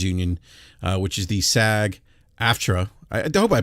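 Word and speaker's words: SAG-AFTRA: the the actors Union uh which is the SAG aftra I hope I pronounced that correctly by the way sag after uh they are is that correct uh Ramon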